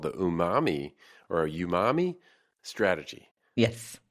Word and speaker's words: umami: a learning opportunity for people it's called the Umami or Umami strategy yes how do you say